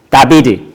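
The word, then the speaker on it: דוד: 잠깐 화면을 봐주시면 좋겠습니다 우리는 다이라고 얘기하죠 영어로는데 그리고 이스라엘 사람들은 다비드 그렇게 발음을 합니다 근데 히브리어 문자는 오른쪽에서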